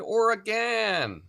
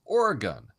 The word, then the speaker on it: Oregon: you say ah welcome I'm in Portland Oran or Oregon you're going to get booze because that's not how you say the name of the state the state is Oregon and you can REM